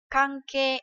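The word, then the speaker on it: 関係: Kanke, đúng không nào? Thì khi ghép một âm khác ấy, thì nó sẽ được đọc là ke. Chẳng hạn như là từ kanke.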